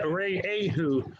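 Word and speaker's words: רעהו: I don't know, but it says in the Torah, Rei Ehu. That's the way to pronounce it. Yeah, Rei Ehu.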